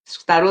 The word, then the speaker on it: Tarot: Tarô se escreve Tarot, Tarô.